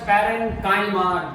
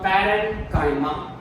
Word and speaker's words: parenchyma: It is pronounced as Parenchyma. Don't try to say Parenchyma. It is the wrong pronunciation. It is called Parenchyma.